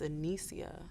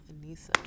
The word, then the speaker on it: Anissa: They actually think it's Anicia. It's Anissa. What are you going to do?